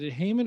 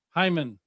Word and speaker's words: Heiman: do this in the middle but is it heyman or hyman how do you pronounce hyman okay thank you because i already started saying